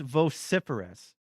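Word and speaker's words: vociferous: Okay, it's pronounced viferous and it means pment or calamorous especially of a person or speech.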